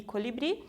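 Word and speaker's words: colibrí: Então, temos destacados aqui a palavra rocío e colibri, a sílaba tônica aqui está destacada, cio e bri, e aqui no segundo, em los harapos, suele haver mais história que em las etiquetas, né?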